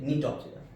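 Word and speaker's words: Gnetopsida: ये जी को जी नहीं पढ़ेंगे। साइलेंट रहता है नी से नीटोक्सिडा।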